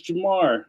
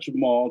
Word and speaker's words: Jamar: spelled my name wrong it's Jamar not Jamal Jamal Flores is in